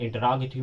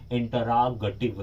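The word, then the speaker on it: interrogative: आपको बताना चाहता हूं उसका शुद्ध प्रोनाउंसिएशन इंटरोगेटिव है। नो नहीं कि आप लोग बोलते इंट्रोगेटिव, इंट्रोगेटिव एक गलत प्रोनाउंसिएशन है, उसे इंटरोगेटिव कहते हैं, वो इंट्रोगेटिव नहीं होता है।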